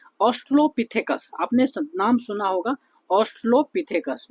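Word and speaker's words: Australopithecus: देखिए, तो सबसे पहली बात जो है, ठीक है, ऑस्ट्रोलोपिथेकस, आपने नाम सुना होगा ऑस्ट्रोलोपिथेकस, मैं शॉर्ट में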